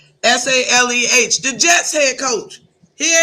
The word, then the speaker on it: Saleh: Saleh, Saleh.